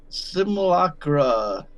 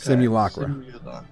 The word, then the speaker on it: Simulacra: So it's like simulation opera. Okay. Simulacra.